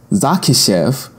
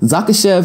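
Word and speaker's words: Dzahkishev: this name too, but Zakishev, I'm pretty sure I did a pretty good job on that. It's spelled D-Z-A-H-K-I-S-H-E-V. Zakishev sounds like a pretty accurate pronunciation of that name.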